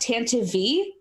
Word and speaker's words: Tantive: It's actually pronounced Tantive.